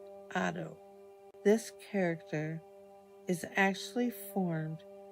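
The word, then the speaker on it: 音: character that the Japanese used to write sound pronounced Otto this character is actually formed of two simple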